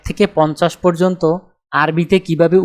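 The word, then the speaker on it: أربعة: আরবি ক্রমিক সংখ্যা 2 দেখতে এরকম, উচ্চারণ হবে ইতনিন।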